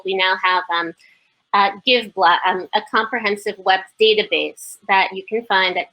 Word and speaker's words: Give Blck: times in september uh it's spelled give black b-l-c-k the missing a is for the missing assets the assets that you